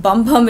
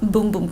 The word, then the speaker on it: Bum Bum: I know a lot of people say Bum Bum because it's written as Bum Bum, but it's not pronounced Bum Bum, it's pronounced Boom Boom Cream.